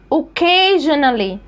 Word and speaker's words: occasionally: الكلمه اللي جايه السي وبعدها سي وبعد السي التانية ايه، السي الاولى اتنطقت كي والسي التانية هتتنطق كي، يبقى occasionally، occasionally.